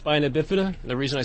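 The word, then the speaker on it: spina bifida: people don't know what that is uh it's pronounced spinabifida the reason I said that is because I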